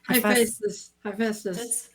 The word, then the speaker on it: Hephaestus: Hephaestus.